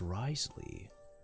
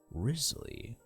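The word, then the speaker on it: Wriothesley: His name can be pronounced as Risley, Rizley or every single letter here, just like Worchesterershshire.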